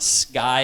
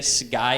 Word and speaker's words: sky: So it should be pronounced sky and skin, not sky and skin. This is really difficult for people who aren't native speakers. because it's so hard, because it's in between like a G and a K. But I think if you say sky and skin, if you pronounce it like a real hard G, it's better.